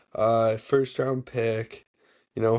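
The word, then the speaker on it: Öhgren: yeah, So and then Orgl how, how do you pronounce his last name? Organ? Ogren. Ogren, first round pick.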